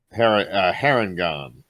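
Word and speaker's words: Harengon: Harrigan? Harrigan? Harangon.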